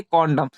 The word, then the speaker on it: condemn: यहाँ भी MN एक साथ है, तब एन साइलेंट रहेगा, तो इसे हम क्या पढ़ेंगे, कॉन्डम, जिसका हिंदी मतलब क्या होता है, निंदा करना।